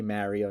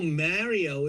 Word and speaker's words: Mario: in a side-scrolling game like a Mario game or something. And Yeah. yes, I say Mario, not Mario. Like getting married, Mario.